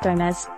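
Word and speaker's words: dōm: Rather, it comes from Proto-Germanic domes, from a stem verb originally meaning to place, to set. According to Etymonline, the dom suffix comes from the Old English word dom, pronounced like dome, which meant statute or judgment.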